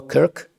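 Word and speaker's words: Kirk: Слідуюче, зараз ми бачимо, що відбулося в Сполучених Штатах Америки, коли Чарлі Кірк, Крк, Кірк, правильна вимова, Крк, один із ведучих молодих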